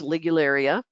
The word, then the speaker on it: Ligularia: Pronounced Ligularia.